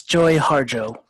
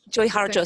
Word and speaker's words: Joy Harjo: And Nia, how do you pronounce her name? It's Joy Harjo. Joy Harjo.